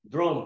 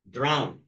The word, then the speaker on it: drown: Some people like to say drone, drone, drone. Okay, see. Blah, blah, blah, blah, blah. See. Drown.